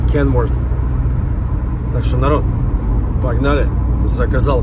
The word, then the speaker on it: Kenworth: Кто-то меня поправлял, что Kenworth. D там никогда не было и никогда не будет. TH произносится как F. Kenworth.